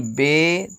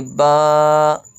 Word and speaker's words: ب: تلفظ سے پرہیز کریں، یعنی بے، تے، ثے، ہے، خے، توئیں، زوئیں وغیرہ ہرگز نہ پڑھیں، بلکہ با، تا، ثا، حا، خا، طا، ظا پڑھیں۔ ان 29 حروف